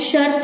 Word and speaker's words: शर्त: यहाँ पे बच्चों शर्त है, हम लोग जब उच्चारण करते हैं शर्त, र की मात्रा पहले